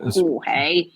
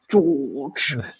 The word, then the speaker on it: Jorge: On it's not Jorge, it's George.